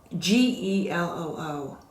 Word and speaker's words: Geloo: These are made by Geloo, G-E-L-O-O. I think it's either pronounced Geloo or Geloo.